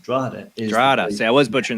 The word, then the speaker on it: Drogheda: to actually be reincarnated, Drogheda, which is how you pronounce it, Drogheda.